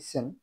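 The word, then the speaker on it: scent: লাম, টি এইচ ইউ এম বি থাম, সি উচ্চারিত হবে না, অর্থাৎ সি সাইলেন্ট থাকবে। যেমন এস সিই এন টি সেন্ট, আতর।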